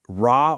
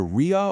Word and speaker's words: Ra: Interestingly enough, while we all say Ra today, linguists actually believe its original New Kingdom pronunciation was probably closer to Ria or Ri, which eventually evolved into the Coptic Ri.